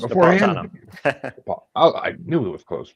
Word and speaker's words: Napolitano: I am joined by John Napolitano. I totally meant to ask how to pronounce it Close, beforehand. Napolitano.